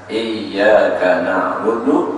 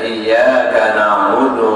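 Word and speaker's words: إِيَّاكَ نَعْبُدُ: yanya pakai baris tasjid lalu praktik membaca tasjidnya itu dengan ada tekanan sedikit pada pertengahan lidah soalnya huruf ya mati atau tasdid itu letak keluar tempat keluar nya di pertengahan lidah jadi untuk praktik membacanya harus ada sedikit tekanan pada lidah pertengahan iyaka nabudu Wa iyaka nastain kalau dibacanya iyaka naudu wa iaka Nain artinya hilang tasdid hilang sebiji huruf ya maka itu mencitrakkan maknanya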